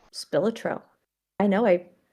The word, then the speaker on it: Spilotro: His name was Anthony John Billotro? Spilotro. I know I pronounced it before, but hey.